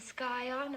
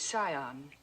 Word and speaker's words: scion: Yale, a yacht, and the skyon of a prominent family. The word is scion. The sea is silent.